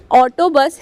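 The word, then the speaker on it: autobus: तो यहां पर ऑटोबस ही कहेंगे लेकिन प्रोनाउंसिएशन में चेंज होगा क्योंकि अल्फाबेट्स जो है कुछ चेंज है इटालियन में तो यू को उ पढ़ेंगे तो यहां पर ऑटोबस को कहेंगे ऑटोबोस इसके बाद नेक्स्ट है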